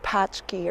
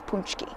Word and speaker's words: Pączki: right it's paczki day I know it looks like it should be pronounced patch key or patch key but no it's punch key so here because it's